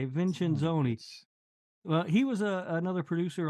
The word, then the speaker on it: Vincenzoni: Vincenzoni.